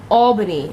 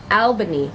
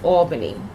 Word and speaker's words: Albany: the east side my whole life like it's pronounced Albany ok a lot of people that are not from Albany pronounce it Albany and that is annoying it is not Alban it's Albany I'm just correcting that cuz it's a pet